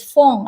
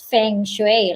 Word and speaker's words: feng shui: in how you s you say it is fong as in phongshoi and some of the you know people they pronounce pronounce it that's feng shui like you know the british pronounce it but